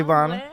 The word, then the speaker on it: Bonna: It's Bonna. Well, Bonna Bay. Bonna Bay. That's just my Instagram handle, but it's Bonna.